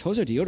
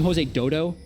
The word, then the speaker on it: Josedeodo: everyone was like hey this hozo deodo is really good we call them jose dodo because our general manager was dota yep and it's just so i will still mispronounce his name occasionally because of that i apologize to everyone